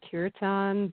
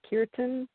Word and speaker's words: kirtan: of us in though well West's a Cureton but I I don't believe that's correct oh good I don't even say it right I hear Indian people say kirtan yeah but anyway yes